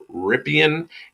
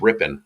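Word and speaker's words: Rypien: I just want to say good on you, Mike, for pronouncing Brett Rippon's name correctly. This week I've heard Ripien and Ripon, and it's not hard, people.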